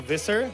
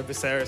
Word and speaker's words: Visser: Well, it's actually pronounced Visser, but I don't mind it. The Tagalog with the hard R, Visser, sounds pretty cool anyway.